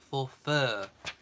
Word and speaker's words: Forfar: twister spelled f o r f a but pronounced for fur as in you are we'll get there um